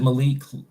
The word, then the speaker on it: Malik: name by the way is it Malik yeah pronounce it Malik but I know I'm like in Hindi is